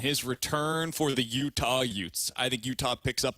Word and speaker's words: Utes: like it thanks and it rhymes with with Utes that's where I was